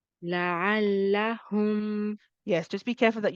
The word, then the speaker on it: لعلهم: Then we have la'allahum. Try it, Sister Isha. لعلهم. La'allahum. لعلهم.